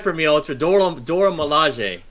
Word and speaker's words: Milaje: Dora Milaje. Not lingerie.